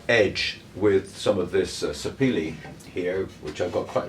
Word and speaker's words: sapele: I thought I might edge with some of this sapele here, which I've got quite a few scraps. I had to look up the pronunciation of that.